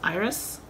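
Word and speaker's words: Eris: an album called changer dear iris iris spelled e-r-i-s and then on the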